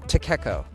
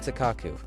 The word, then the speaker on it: Takako: do you say it yeah Takako not takaku it is definitely too